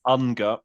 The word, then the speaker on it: UNGA: The UK delegation seems to like to call it UNGA. UNGA, UNGA. During UNGA. Ugly sounding, but just be aware of that. If you hear in a UN context, UNGA, they're talking about the General Assembly. It's really from the throat, UNGA.